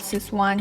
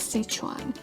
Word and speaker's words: Sichuan: of sichuan well sichuan we heard in india there is an ad called sis one chutney ad and this is one noodle this is one fried rice well actually its pronunciation is sichuan indians is one chinese